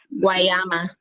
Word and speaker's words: Guayama: can you pronounce that, the name of this? Guayama.